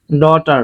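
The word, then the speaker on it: daughter: ড এ ইউ হ্যা ভালের পরে যে থাকলে যে উচ্চারিত হয় না তাহলে যে উচ্চারণ করলাম না টিতে ট এর পরে আর থাকলে ই এর উচ্চারণ হয় কি এ বর্ণটা পরে আর বর্ণটা থাকলে ই এর উচ্চারণ হয় কি আ তাহলে আতে আকারেটি এর সাথে আকার আরতে র ডটার খুব সুন্দর না শব্দটা এইযে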